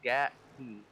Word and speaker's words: Gatke: He said that the 16's last name is pronounced Gatke.